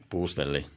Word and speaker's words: Puustelli: So you say it without any enthusiasm, so it becomes Finnish. And then you kind of sit on the long vowels. You sit on the U, so Puustelli.